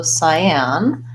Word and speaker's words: cyan: to Pulitzer Prize so cyan I am pretty sure that it's an s-sound an AI diphthong and an AH just like the word and well as I am with second syllable stress but like I often